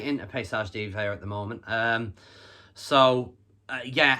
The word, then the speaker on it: Paysage d'Hiver: The band that I'm talking about is, let me get the pronunciation right because they're Swiss, Paysage d'Hiver. Paysage d'Hiver.